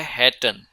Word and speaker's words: hätte: इसी तरह इश हाटे बोल देते हैं हैटे को, तो इश हाटे अलग है, आई हैड मेरे पास था, और इश हैटे अलग चीज़ है। तो ये प्रोनाउंसिएशन भी आप लोगों ने इस पर फोकस रखना है।